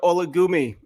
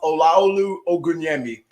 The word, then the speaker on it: Olaolu Ogunyemi: even funny so uh so my name is pronounced olaolu ogunyemi all right and that's why